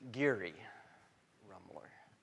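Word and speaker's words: Geary Rummler: Geary Rumler.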